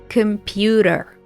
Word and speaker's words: computer: the computer from crashing practice the American t or d sound in the word computer computer you always have to